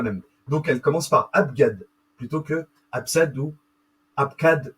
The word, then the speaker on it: abjad: vous voyez la différence c'est que c'est abgad g même si la lettre G se prononce j comme abjad bah eux pour les Hébreux et les Grecs pour le coup c'est g vous prononce cette lettre